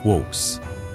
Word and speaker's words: Kvothe: El mío, me llamo Kvothe, que se pronuncia Quos.